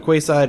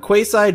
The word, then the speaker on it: quayside: Alright, there's a flustered fisherman standing on the quayside in Castaway Cove. There's a lot of hard C sounds in there. Like, quayside may be a Q, but it's still a hard C sound.